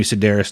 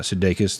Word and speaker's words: Sedaris: Again, it's Amy Sedaris, not Sudeikis.